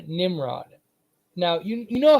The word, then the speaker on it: Nimrod: So if you say it fast, Nimrod, it sounds like a B. Nimrod. That over time they pronounced it so fast they thought that it was a B instead of an M.